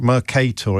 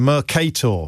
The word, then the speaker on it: Mercator: Mercator. Is anyone going to start pro correcting my pronunciation. I thought I got it right last time. Mercator.